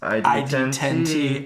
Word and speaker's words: ID10T: headliner came on, that it is not pronounced Idiot Fest. It is pronounced ID10T, as in D10, as in D&D, as in it was